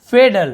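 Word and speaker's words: fatal: ये है फेडल, अब आप बोले सर टी लिखा हुआ है लेकिन यहाँ पे ड उच्चारण होता है फेडल, फेडल यानी होता है घातक, उसे हम फेडल कहते हैं।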